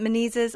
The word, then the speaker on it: Menezes: Tony, is it Menezes?